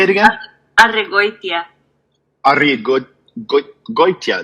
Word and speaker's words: Arregoytia: Arregoytia. Arregoytia. That Goitia is really hard, because especially after you try and roll your R's. Arregoytia.